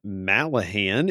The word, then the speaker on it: Mallaghan: I am here at Malahan in Newnan, Georgia, and I am with a couple of special folks here.